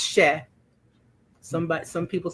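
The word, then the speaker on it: cher: So the first word is c h e r she and it is just a term of endearment just means sweetie or dear heart or my darling one. It's she somebody some people say she rhymes with chair.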